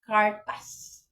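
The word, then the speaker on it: kertas: a s Kung ilahang pagpronounce pronounce na ang pronunciation nila is cartas M papel kung hilak maghilak no manangis kung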